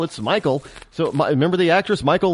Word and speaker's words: Michael: male name but they're spelled like Michael and and pronounced like Michael not Michelle it's Michael so remember the actress